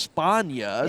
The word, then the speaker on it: Spagna: So, you know, we've got LJOY, we've got a guy whose names is spelled Spagna, but is pronounced Spana.